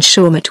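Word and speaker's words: Shawmut: across the Charles and shaut was the Boston microbe was it asked Johnson yes said Emerson spelled with a p I suppose said Shakespeare p h a w sh m u t m shaut soall because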